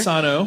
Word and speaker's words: Sano: She pointed out that we were pronouncing that wrong earlier. Sano.